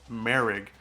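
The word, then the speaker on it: Moehrig: Pronounced Merrick.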